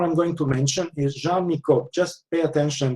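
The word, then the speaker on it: Jean Nicot: going to mention is Jean Miko just pay attention this is a French name when you come to the exam French pronunciation jeano okay 16th century French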